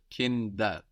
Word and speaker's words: Kinder: get the plural, and also that D is softening again, becoming like a D again rather than a T, because it's not at the end of the syllable anymore. It's starting a new syllable, Kinder, rather than Kind.